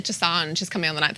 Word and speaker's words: Dosanjh: So his surname's Dosanjh. I got that right. How did you pronounce the first one?